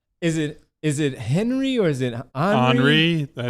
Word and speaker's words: Henri: H- Is it Is it Henry or is it Henri? Henri. Henri Veesaar. We'll have to check with the official pronunciation.